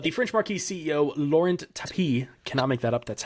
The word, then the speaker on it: Tapie: But the French Marquis CEO, Laurent Tapie, cannot make that up. That's how it's pronounced.